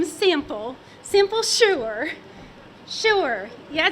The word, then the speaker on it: Shure: Simple Shure. Shure. Yeah, it's spelled it S-H-U-R-E.